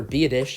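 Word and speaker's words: Biadasz: to school for a while it was Tyler via dish out of Wisconsin yes that is how you pronounce his last name and it seems like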